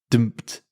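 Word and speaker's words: D'mt: Dumped. Sorry, what? It's dumped. It's spelled, I had to Google this to pronounce it, D''MT.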